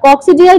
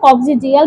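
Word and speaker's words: coccygeal: আর কক্সিডিয়াল যেটা, কক্সিজিয়াল, ঠিক আছে, উচ্চারণ হবে কক্সিজিয়াল ভার্টিব্রা।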